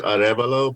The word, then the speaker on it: Arevalo: very special guest avalo right that's how you pronounce your last name right uh it's the spanish way is arevalo but my family don't even just say it like that so any anything is